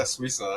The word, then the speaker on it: Swisa: Yeah, Swisa.